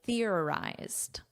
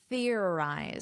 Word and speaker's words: theorized: So that's why they're saying theorized. Let's practice this pronunciation. Theorized. So notice an unvoiced th. You put your tongue between your teeth.